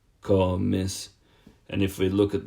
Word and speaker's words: comes: with an S, and you're just going to push down on the second last syllable yet again.